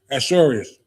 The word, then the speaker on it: Ahasuerus: And Haman, said unto King Ahasuerus. So I pronounce that right?